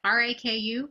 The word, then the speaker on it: raku: sure thing yes rap who i may be mispronouncing it r-a-k-u raku oh yeah raku yeah yeah is that